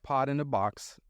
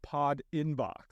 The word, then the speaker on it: Pod Inbox: So, you started um Pod in a Box um and that was dedicated to um Fed Engagement.